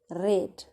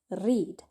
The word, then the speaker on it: read: confused with the spelling it is spelled the same way but we pronounce it differently based on the tense so your past tense is red like the color red